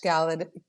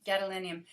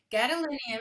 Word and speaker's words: gadolinium: can stop doing it now it's too much Gallant I'm saying it wrong gadolinium gadolinium is required for a breast MRI to make